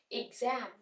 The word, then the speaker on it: exam: है शॉर्ट ई से इग जम इग जम जम पे स्ट्रेस आ रहा है तो हमने इसको लाउडली प्रोनाउंस करना है एग्जाम एग्जाम इग शॉर्ट इ